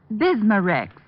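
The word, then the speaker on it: Bisma-Rex: irritated stomach membranes i'll have to remember that bismurex is that how you say it that's right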